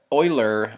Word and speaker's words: Euler: playing with the the oiler or well because that's how it's pronounced in German but the erer um